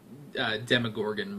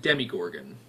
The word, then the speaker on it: Demogorgon: You guys said I pronounced Demogorgon wrong. I've been pronouncing it Demigorgon. Apparently that's not right.